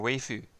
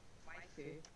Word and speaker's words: waifu: Your waifu. Waifu. Isn't it pronounced? Waifu.